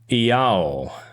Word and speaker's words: IAO: The cock is Gaio, or Iao. It's spelled I-A-O.